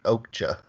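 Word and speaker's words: Okja: and then he also did that Netflix movie okhta which yeah that's how you say it it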